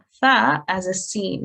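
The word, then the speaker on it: ث: So if you just quickly go through this, the tip of the tongue slightly comes out of the mouth and softly touches the upper teeth. Air should escape when pronounced properly.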